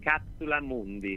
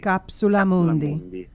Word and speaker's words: Capsula Mundi: Capsula Mundi. Capsula Mundi. I love it. Capsula Mundi. Yes, Yes. It is a Latin construction.